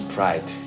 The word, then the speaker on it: Pride: Pride, votre nom, Pride, ça se prononce Pride.